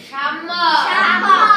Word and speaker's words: সাম্য: সাম্য। আর এটা ম কোথা থেকে আসলো? এই জফলা যদি থাকে, শেষ বর্ণের সাথে যদি জফলা থাকে, তাহলে এই শেষ বর্ণটি 2 বার উচ্চারিত হয়।